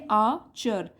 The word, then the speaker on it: archer: और देखिए आर्चर में यहाँ जो आर है इसको हम उच्चारण नहीं करते हैं, तो बोलेंगे आचर।